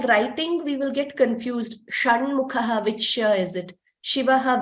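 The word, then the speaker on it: षण्मुखः: Shanmukhaha, it is again similar.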